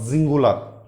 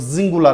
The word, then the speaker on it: Singular: English we say सिंगुलर, in German it is called जिंगुलर, because S का उच्चारण ज का होगा क्योंकि इसके बाद क्या है, वाउल का इस्तेमाल हुआ है, तो जिंगुलर कहेंगे हम, ठीक है।